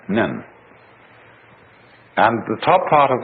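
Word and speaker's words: 忍: very interesting sign this it's pronounced in Japanese nin and the top part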